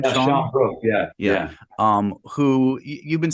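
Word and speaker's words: Sian Brooke: Sean Brooke, is that how you pronounce her name? Yeah, Sean Brooke, yeah.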